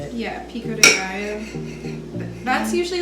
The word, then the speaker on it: pico de gallo: Yeah, pico de gallo.